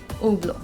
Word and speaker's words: Hublot: it is pronounced as oblong the sound of h is absent in this guys even the sound of t is not there it's simply oblo now this brand is